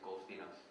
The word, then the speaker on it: Golfinos: It's a gamma kappa. It's a diphthong at the beginning, so it really is Golfinos.